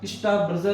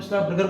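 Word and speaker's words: Strasburger: ठीक है, और तीसरा इसमें और प्रयोग दिया गया था स्टार ब्रजर का, जिसे बोलते हैं स्टार बर्गर बोला जाता है, स्टार्स बर्गर।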